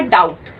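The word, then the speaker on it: doubt: इस वर्ड के अंदर, क्योंकि बी हमारा साइलेंट है।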